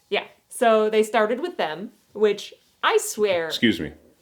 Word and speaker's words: Them: So they started with Them, which I swear... Excuse me. Them is how you pronounce it.